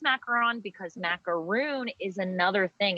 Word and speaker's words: macaron: i say okay so it is macaron okay uh like you're saying ron from harry potter at the end of macaron however because we live in the south um i get a lot of macaroon all the time a lot of macaroons